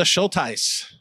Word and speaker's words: Schultheis: Please welcome our speaker, Schultheis. You pronounced it correctly.